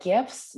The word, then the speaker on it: GIF: By the way, who says it with a hard G and who says GIFs with a soft G?